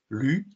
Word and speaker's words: lune: oui, vous avez raison, quand je dis lune, il y a une syllabe, mais il y a une autre manière de dire lune, et regardez, ce mot lune, il se termine par un E muet, ou un E, tout simplement un E, il faut dire qu'il est muet, un E qu'on n'entend pas d'habitude, et je peux aussi le dire en 2 syllabes, lune.